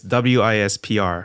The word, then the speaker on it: Wispr: yeah for for people who don't know it's Wispr yes uh which you know you got to spell it somehow I mean the question here is